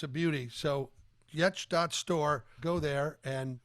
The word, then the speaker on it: Giertz: guest today has been Simone yet and it's spelled just like it sounds g i e TZ obviously duh my ancestors were trolls it makes sense in no language that I have found so far it's a beauty so yet.